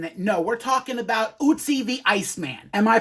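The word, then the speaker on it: Ötzi: No, we're talking about Usie the Iceman. Am I pronouncing that correctly? Well, according to Google AI, it's pronounced Usy, which rhymes with Tootsie, like Tootsie Roll.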